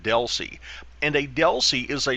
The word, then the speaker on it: DLCI: We pronounce that DELC.